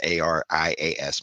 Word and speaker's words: Arias: I believe it's pronounced Arias. It's Arias.